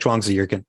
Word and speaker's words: Zhuangzi: If you pronounce it like Zhuangzi, you're more likely to say it in a way that speakers of Mandarin Chinese will recognize.